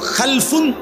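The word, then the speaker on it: خلفٌ: খালফুন আরেকটা হল খালাফুন একই শব্দ শুধু উচ্চারণের মধ্যে একটু ভিন্নতা মাঝখানে একটা লাম আছে এই লামটার মধ্যে যদি সাকিন হয় তাইলে হল খালফুন আর যদি লামের মধ্যে জবর হয় তাহলে হল খালাফুন আরবি শব্দ এ খালফুন মজিদ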